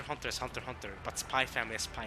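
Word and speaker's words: Spy × Family: I'm pronouncing Spy Family. I know a lot of people actually pronounce it Spy X Family, but I say Spy Family.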